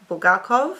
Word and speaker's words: Bulgakov: Margarita by mik bul bulgakov I've had Russians C my pronunciation so I'm just doing what they say to Doyle buk this